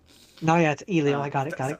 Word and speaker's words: Elio: It's pronounced Elio. No. Yeah, it's Elio.